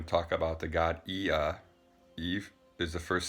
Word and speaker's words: Ea: So the first one is Sumerian, and we're going to talk about the god Ea. Eve is the first syllable, and after the period is the second syllable.